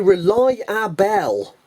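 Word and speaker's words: Rely-A-Bell: come across this one now this is a rely our bell yes that is how it is spelled r e l y hyphen a hyphen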